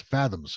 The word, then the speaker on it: FZMZ: as a special band called FZMZ, pronounced Fathoms.